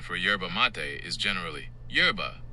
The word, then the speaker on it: yerba mate: Mate, pronounced like matei or mate where the final e is clearly sounded not silent like in the English word mate. Putting it together, it sounds like yerba mate or yerba mate.